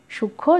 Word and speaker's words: সূক্ষ্ম: প্রথমে রয়েছে সূক্ষ্ম, এটা সূক্ষ্ম, যুক্ত ব্যঞ্জন আছে তার সাথে বসেছে মটা, সে কারণে উচ্চারণ কিন্তু সূক্ষ্ম, ময়ের উচ্চারণ নেই কিন্তু নাসিক্য হয়েছে।